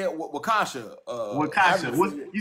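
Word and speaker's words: Waukesha: Wakasha.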